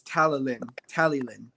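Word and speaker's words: Talyllyn: Like, if you want to say it like a American, it's Tallylyn. Okay. If you say it like British, it's like Tally Flynn with an F. But if you say it properly like Welsh, the F, quote unquote F, is like with your tongue, like Tallyflynn.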